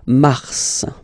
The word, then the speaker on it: mars: okay then Mar okay so in a way it's an exception because normally final s is not pronounced in French okay we've got some exceptions and this one is one of them so Mar pronounce the final s mar mar okay then ail ail